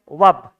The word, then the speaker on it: verb: तो वर्ब, ऐसे VERB, इसको वैसे शुद्ध उच्चारण होता है वब। क्या होता है? वब। पर अपन गुरुजी स्कूल में पढ़ाया है या वर्ब की थर्ड फॉर्म लगा दो।